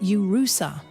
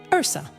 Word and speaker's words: URSA: They forced us to pronounce it Urusa, but to distinguish it from Usha, we whispered it in Latin among ourselves. Ursa.